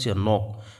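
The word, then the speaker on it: knock: আমি মার্কিং করিবো লাগে নক নক কে two silent হয়েছে ওয়েস্টেল ইয়াত কি আছে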